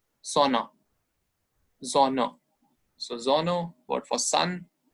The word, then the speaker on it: Sonne: S, so sound, Sonne. But here in German, S is pronounced as Z, so Sonne, not Sonne. Sonne.